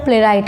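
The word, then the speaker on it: playwright: प्ले राइट, author, प्ले राइट। आप देखें प्ले राइट इसका भी प्रोनाउंसिएशन है प्ले राइट, ऑथर।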